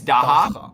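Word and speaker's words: dagga: in South African is kind of harsh, like daha, right? It's daha. Am I pronouncing it correctly?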